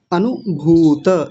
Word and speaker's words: अनुभूत: सबसे पहला शब्द है अनुभूत विषय संप्रोषः अनुभूत। देखिए पहले छोटे ऊ की मात्रा है। फिर बड़े ऊ की है। तो छोटा ऊ जल्दी बोला जाता है।